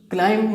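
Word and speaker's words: climb: ये क्लाइम में जो बी है ना, ये साइलेंट लेटर है, that will not be pronounced, ये प्रोनाउंस नहीं होगा।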